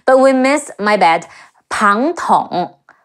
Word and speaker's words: Pang Tong: Last time we mentioned Zhuge Liang, whose nickname is Wo Long, Crouching Dragon, but we missed, my bad, Pang Tong, Pe Ang Pang, Te Ong Tong, Pang Tong, whose nickname is Feng Chu, Fledgling Phoenix.